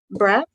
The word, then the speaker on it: Braatz: uh the next person we have is Richard brat Richard I hopefully I pronounced your last name correctly yes you did